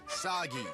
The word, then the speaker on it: Sagi: Cliche burden boy of action who will save us all is named Sagi. Rhymes with Saki.